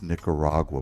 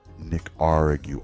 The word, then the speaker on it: Nicaragua: way to pronounce Nicaragua it's Nicaragua by the way not Nick arig you all like a pirate trying to hail a Central American country this year's election like